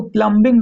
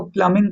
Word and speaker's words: plumbing: प्लम्बिंग, इसको प्लम्बिंग नहीं पढ़ेंगे, बी साइलेंट होगा यहाँ पे, इसको प्लम्बिंग कहेंगे।